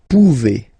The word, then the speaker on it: pouvez: A Z like that, okay? Remember you pronounce it E, okay? Vous pouvez, vous pouvez.